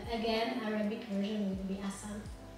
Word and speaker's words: Assane: But you don't say the E at the end. So it's just Asan.